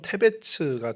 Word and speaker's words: 데베스: 히브리어로 데베스는 뭐 발음을 히브리어상으로 하면 테베츠가 되는데 그 뜻이 창백함, 뭐 하얀, 뭐 이런 의미를 갖고 있고요.